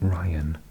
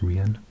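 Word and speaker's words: Rhian: cuz that that name I think it's supped to be Ryan but in Welsh it's a girl's name is pronounced Ren and I think he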